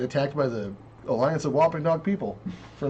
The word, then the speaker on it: Wampanoag: by the Alliance of Wampanoag people for not saying their tribe name right, because I can't pronounce that shit. I For can't. whatever reason, I can't say Wampanoag. Sounds like eggnog, but different. Wampanoag.